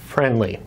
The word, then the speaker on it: Frndly: out that's new is called friendly F R and D ly is how they spell it friendly TV well it